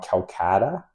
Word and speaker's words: Kolkata: in, excuse me if I say it wrong, Calcutta. I don't know of it as Kolkata, but Okay, Kolkata.